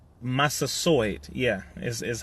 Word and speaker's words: Massasoit: have to deal with what is called the Massasoit Massasoit Massasoit yeah this is how you pronounce it 90 men one woman or the